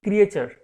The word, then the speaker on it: creature: এটাকে টি কে আমরা উচ্চারণ করি, ক্রিয়েচার।